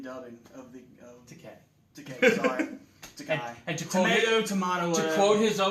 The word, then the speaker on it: Takei: Sorry, Takei. And to quote his own joke, Takei, it rhymes with gay.